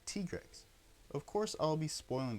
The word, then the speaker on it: Tigrex: So I'll be pronouncing Tigrex like Tigrex.